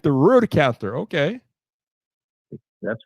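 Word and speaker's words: RØDECaster: yeah yeah that's it so you'll pronounce it so is the rude caster and not the road caster it's the road caster okay that's right now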